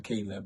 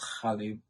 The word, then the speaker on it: Qalb: And I combined the both together, and then we have QALB, which is pronounced Khalid in Arabic, but of course Caleb in English.